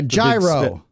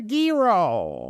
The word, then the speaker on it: gyro: was pain uh what how do you pronounce the Greek sandwich that they carve all gyro uh that is incorrect as Gordon litty the lake Gordon ly would have told you it is a Giro is it really a